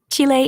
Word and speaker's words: Chile: What is the proper way to say Chile in spring?